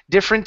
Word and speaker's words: different: uh interested and different different is the same way we don't pronounce that ER it's different uh you know difference differ okay okay so those uh with those words difference different and difference we don't pronounce differ we don't pronounce the vow or the the uh um oh I just lost my mind here the syllable we don't pronounce the syllable okay all right very